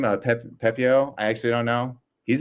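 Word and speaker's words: Pepiot: Pepio? I actually don't know. He's been pretty bad. You nailed it. Pepio, you got it.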